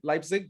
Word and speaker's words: Leipzig: so you heard of leipzig as well right leipzig did i say it right uh yeah yeah